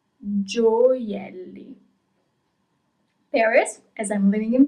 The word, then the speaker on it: gioielli: You pronounce all the letters. Giocatore. Okay? Jewels. Gioielli. Gioielli.